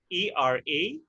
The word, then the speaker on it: eradicate: is eradicate, spelled as E-R-A-D-I-C-A-T-E. This four-syllable word is pronounced eradicate.